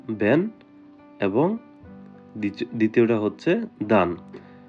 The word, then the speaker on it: Wenn: প্রথমটা হচ্ছে ব্যান, দ্বিতীয়টা হচ্ছে দান। এখানে ডাবলিউ কে ভি এর মত করে উচ্চারণ করা হয়। তাই আমি এটাকে বললাম ব্যান এবং দ্বিতীয়টা হচ্ছে দান।